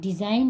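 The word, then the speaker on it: design: रिजाइन में भी same N से पहले जी है तो य साइलेंट होगा रिजाइन मीस त्याग पत्र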